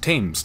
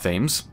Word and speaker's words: Thames: Also, the River Thames is pronounced Thames, not Thames, and Cretan is pronounced Cretan, not Cretan.